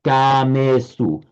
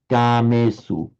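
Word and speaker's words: kāmesu: But remember, if it's long in Pali, it remains long, so it has to be kamesu, long, short, kamesu. Kamesu.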